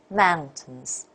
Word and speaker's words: mountains: There is a difference between the first syllable and the second one. So mountains.